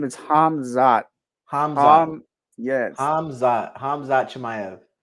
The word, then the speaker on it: Khamzat: I was gonna say bro his name is hamzat hamz yes hamz hamz Chay yes hamzat what